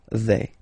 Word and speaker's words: vais: Remember, final S not pronounced. Je vais.